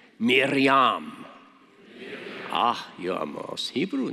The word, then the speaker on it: Miriam: And the Hebrew name is Miriam. Miriam. Say it with me. I teach you Hebrew. Miriam. That's not good enough. Let's try again. See if you can roll your R's a little bit. Miriam.